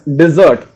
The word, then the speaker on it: dessert: It is actually pronounced as dessert. That is D-I-Z-Z-U-R-T. It's the actual pronunciation of the word, the food item, dessert.